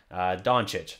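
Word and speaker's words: Dončić: Like, I don't know if that's that or if they just think that's how it's pronounced. It drives me crazy. Doncic.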